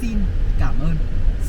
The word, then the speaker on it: xin cảm ơn: Vietnamese will say to each other with three syllables. So we're gonna say xin cảm ơn.